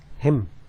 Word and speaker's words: hymn: HYMN, इसको कैसे पढ़ेंगे? हिम, हिम, वही HIM का जो प्रोनाउंसिएशन वही है.